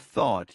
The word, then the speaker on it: thought: by syllable for instance the word thought used to trip me up every time I said it I would mispronounce it confusing it with TA or skip over it altogether